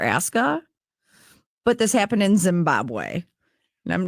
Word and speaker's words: Zimbabwe: always been called Zimbabwe formerly Zab have I saying it wrong no no Zimbabwe is correct but it wasn't always